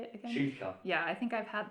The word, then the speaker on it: Schilcher: Schilcher. Yeah, I think I've had that before. Yeah. I'm still trying. The pronunciation is so hard for me in Germany.